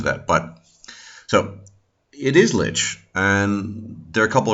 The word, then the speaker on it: lich: And I can tell you exactly how lich, it is the right way to pronounce it, is meant to be pronounced.